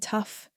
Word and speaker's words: tough: This rhymes with bluff and stuff. The words to learn are enough, rough, and tough.